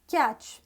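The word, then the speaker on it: cache: C-A-C-H-E, जिसको आप कैचे बोलते हैं, कुछ भी बोलते हैं, it is pronounced as catch. Catch. C-A-C-H-E, catch.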